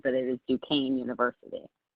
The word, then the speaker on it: Duquesne: Well, yes, and I'm actually surprised because everybody normally pronounces it Duquesne, but it is Duquesne University. Duquesne, all right.